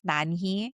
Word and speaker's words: Nan Heui: Koreans combine their first and middle name together. So it's Nani.